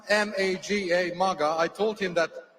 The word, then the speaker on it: Maga: It's spelled M-A-G-A, Maga.